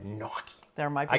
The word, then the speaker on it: gnocchi: go out somewhere Italian noi I can't say it like you do how you say it noii yeah GN in Italian like lasagna lasagna I like it and